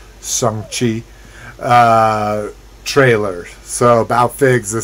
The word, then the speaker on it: Shang-Chi: It's pronounced. Shang-Chi.